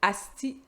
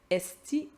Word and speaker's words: osti: Il y a différentes prononciations. On peut prononcer asti, esti ou sti, tout simplement.